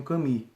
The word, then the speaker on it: Camus: chamado alberto camille né escreve camus mas eles pronunciam caminho o escritor de naquele